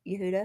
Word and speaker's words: Yehuda: That's I said it right. Yehuda. Yeah, you nailed it.